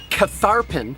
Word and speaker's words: Catharpin: Catharpin at Fredericksburg is pronounced Cat-Harpin at Manassas.